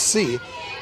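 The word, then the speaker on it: Tse: of course and her after The Hyphen of her surname is t-s-e pronounced C so the teaming teammates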